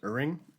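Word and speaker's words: Ihrig: Chris Dickinson and Colin, I think it's pronounced Uring.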